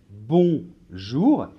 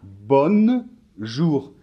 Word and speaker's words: bonjour: 10 grammes justement donc dans les nasale on ne doit pas prononcer le elle allait même si on l'écrit 1 oui donc on va dire par exemple bon jour et ne dites pas bonne jours ouais ça c'est une erreur typique par contre on dit